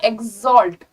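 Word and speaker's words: exalt: चलो आगे बढ़ते हैं, प्रोनाउंसिएशन पे ध्यान रखना है, एक्स का साउंड नहीं आएगा, एक्सॉल्ट जी और जेड का साउंड आता है, ठीक है, ओके।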